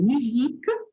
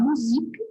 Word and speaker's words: musique: O U é pronunciado quando tem um sozinho. Por exemplo, musique, mur. A gente tende a falar musique, porque é uma palavra muito parecida com o português, mas tem que se ter muita atenção, porque o sozinho é sempre pronunciado U.